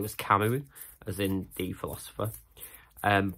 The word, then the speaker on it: Camus: the like words I had to say was kamu as in the philosopher um but I'd only ever read it I'd never heard anyone talk about it so I pronounced it Camus and then the recorder very nicely kind of